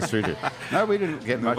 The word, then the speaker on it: Lesotho: So I didn't even know it was spelled and pronounced Lesotho.